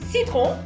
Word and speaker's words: citron: Citron. Citron. Citron, lemon. Sel. And when you say your R's in French, you got citron.